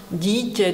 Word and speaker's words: dítě: the same sound, but if you pronounce dítě, dělat, džobanec, as in the sound D in schedule, which is a difficult word for me, it will be okay.